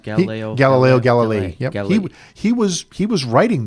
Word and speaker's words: Galileo Galilei: Yeah, Is it pronounced Galileo Galilei?